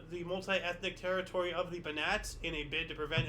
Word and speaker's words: Banat: Supposed to say banana or? No, Banat.